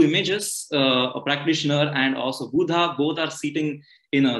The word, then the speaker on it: Buddha: Even Buddha, people pronounce it as Buddha, but it's actually Buddha.